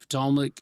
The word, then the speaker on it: Ptolemaic: It's the P is not silent.